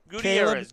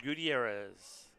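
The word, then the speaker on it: Gutiérrez: Gutierrez. Caleb Gutierrez. All right, Gutierrez.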